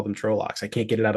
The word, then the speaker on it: Trolloc: Uh, but by the way, about Trollocs versus Trollocs, I think you're right according to the pronunciation guide. Trolloc.